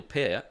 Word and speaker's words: Peart: I mean, like, Neil Peart is... Or Peart, I think is the correct pronunciation.